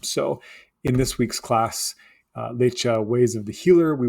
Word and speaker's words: Læce: Now, Læce often gets pronounced as leech as well, and neither one of them are necessarily more correct than the other when we're moving them into modern English.